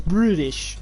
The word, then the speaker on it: British: It's not even British, it's British. Luke, we're British, not British. British. There's a T in British, let it be known.